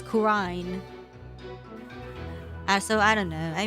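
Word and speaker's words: Khura'in: Yeah, but like the characters in the game don't pronounce it as Quran. They pronounce it as Qurine.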